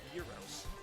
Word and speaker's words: gyros: Sometimes the Greek is Gyros pronounced like Euro. The Greek thing is pronounced Euros.